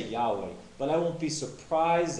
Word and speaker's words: Yahweh: could and I came to the conclusion it's Yahweh you have to come to whatever conclusion you